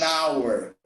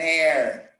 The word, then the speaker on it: hour: age and the age in certain words it's silent it's not pronounced so honor we don't say ah it's an honor an hour an hour an honest man honest